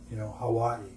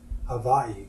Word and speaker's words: Hawaii: The natives replied Hawaii, and at that time it was VA. Today we pronounce it as WA, but it's Hawaii.